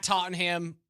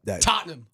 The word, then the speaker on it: Tottenham: I think those 3 games, you win those 3 at Tottenham, in London against the Jets, win. Can you repronounce that? Tottenham. No, it's Tottenham.